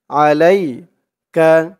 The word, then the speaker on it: عليك: দিয়ে ইয়া ধরবে, লাই আলাই কা আলাইকা। লাইসা আলাইকা আলাইকা। আইনের উচ্চারণটা গলার ভিতর থেকে শক্ত করে আনতে হবে।